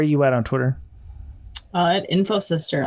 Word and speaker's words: InfoSystir: At InfoSystir, INFOSYSTIR.